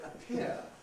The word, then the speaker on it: appear: So in the word attack, or the word appear, you get aspiration. Right, this P is not at the beginning of a word, but it is at the beginning of this stressed syllable. So you get aspiration. Appear. It appears, it appears. Not it appears, but it appears. You get aspiration because it's at the beginning of the syllable.